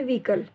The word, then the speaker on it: vehicle: जैसे व्हीकल, व्हीकल spelling आ रही है VEHICLE, तो ये इस तरीके के वर्ड में इसमें आपका एच आपका साइलेंट रहेगा, ठीक है।